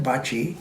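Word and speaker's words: Bacci: And so there's this fellow named Damian Bachi, and it's spelled B-A-C-C-I. That's how you spell his last name.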